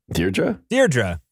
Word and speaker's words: Deirdre: Deirdre.